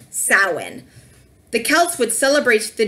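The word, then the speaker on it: Samhain: on the screen what's actually spelled but it's pronounced sow in the Celts Wood celebrates the new year on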